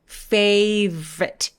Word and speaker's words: favorite: favorite 보다는 중간에 O를 없애버리고 V에서 R로 바로 가는 거예요. favorite, favorite 이렇게요.